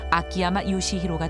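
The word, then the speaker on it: 秋山成勲: 한자 추성훈의 일본식으로 매산자를 더한 추산성훈. 이것을 일본식 발음으로 읽으면 아키야마 요시히로가 된다. 추성훈이 격투기 선수가 되기 전부터 가깝게 지내는 일본인 친구 우메다 씨.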